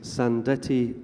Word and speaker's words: Sandettie: does this name mean and how do we pronounce it so the title of the book is sand Ettie light vessel automatic it's the name of a